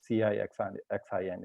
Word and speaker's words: Caixin: And I think Chinese government also allows, especially websites like Caixin, which is called CIXIN, it's pronounced.